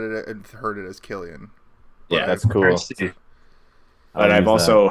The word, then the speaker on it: Cillian: and heard it as Killian that's cool but I've also heard people call him San before but his name is Killian because I've heard him say his own name I'm a I'm a